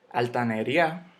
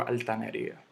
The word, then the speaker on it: altanería: Yo no digo altanería, yo no digo altaneria, yo no digo altaneria, ni nada de eso, yo digo altanería.